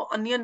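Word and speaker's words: onion: एक एक अ की साउंड देंगे, फॉर एग्जांपल अनियन, आउल, इसको ओनियन नहीं बोलते आप, इसको अनियन बोलते हो, हेंस अ की आवाज आ रही है।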